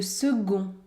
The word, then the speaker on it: second: Notez bien ici la consonne C se prononce g. Le second. Le second eut l'âne.